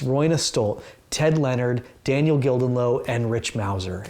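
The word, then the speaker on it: Gildenlöw: so um especially because daniel gildenlow appears on that one or daniel gildenliff i believe is how you pronounce his name but um very important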